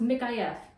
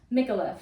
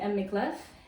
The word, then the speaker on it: Micallef: One girl said that, no, it's pronounced Micallef. The L's are like, you know, like in Spanish. And then the next girl was like, no, it's Micallef. So I'm gonna go with her. I'm gonna say Micallef.